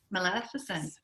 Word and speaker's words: Maleficent: I can never say her name right. It's like Penelope. Maleficent. That's how they say it in the movie.